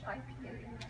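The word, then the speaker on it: HIPAA: do you spell it hipa you got it yeah yeah most people say we think it's hippie and it's actually so that's a big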